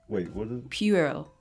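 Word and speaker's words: puerile: e RI l ii think of the pu being pew pew pew Earl Peele so and then they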